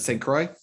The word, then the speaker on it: St. Croix: Is it St. Croix?